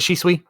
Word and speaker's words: Shisui: up there with uh shisui uchiha or how do you say his name is it she sweet yeah yeah uchiha and